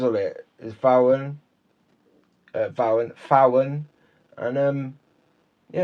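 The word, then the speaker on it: Vauen: told me this, that you don't say it Vowen or Vaughan, it's Fowen. Fowen.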